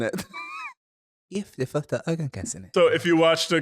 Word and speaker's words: Gift i första ögonkastet: Gift I första ögonkastet. Gift I första ögonkastet. That's how I see Kim saying it. Gift I första ögonkastet.